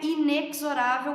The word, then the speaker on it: inexorável: Pessoas, não é inexorável como muitas vezes a gente ouve por aí. A pronúncia correta dessa palavra é inexorável. Aquele X tem som de Z.